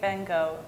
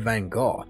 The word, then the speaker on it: Van Gogh: of them correct but i have also heard van gogh and it isn't in the same way that she was talking about pronouncing the g at the end you kind of just skip over the g and go straight to the h if that makes sense i'd say van